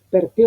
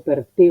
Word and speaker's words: per te: Si bien son dos monosílabos, no es perte, sino per te.